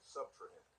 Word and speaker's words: subtrahend: The second number is called the subtrahend. That's the number that is being subtracted. The subtrahend. Subtrahend. That's 3 syllables, right?